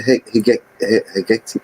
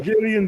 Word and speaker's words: Hegelian: This is their how do you pronounce it? The Hegectic dialect. It's problem, reaction, solution. Get the problem. Hegelian dialect. Yeah.